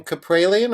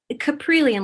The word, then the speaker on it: Caprilian: you pronounce your surname capralian or caprilian caprilian like chameleon capri brilliant okay i'm glad i asked because i